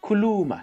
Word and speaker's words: kuluma: one is the best kuh lu ma means talk or speak kuluma speak why are you quiet speak why are you quiet kuluma you know so that's that's how you say it so if you